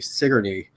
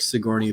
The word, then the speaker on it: Sigourney: is death of an infant by lydia huntley sigourney um i know it looks like sigourney but it's pronounced sigourney and the other is the slave mother by